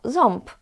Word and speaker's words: ząb: They might tell you that, no, of course I'm saying ząb, while when you speak to them, they will tell you, oh, ząb, boli mnie ząb.